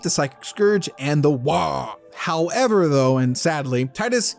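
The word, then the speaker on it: Waaagh: war boss of the Orcs, to halt their Wah! And I kid you not, that's how it's actually supposed to be pronounced.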